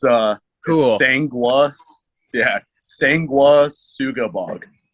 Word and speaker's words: Sanguisugabogg: for you it's Devin Swank lead singer from sengu asugabag or however how is the name actually pronounced if I did I get that right nah you butchered it but it's uh cool yeah sengua Suga bog sangua sugabag okay I'm not yeah I definitely